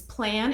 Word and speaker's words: Plann: I personally use Plan. It's spelled Plann.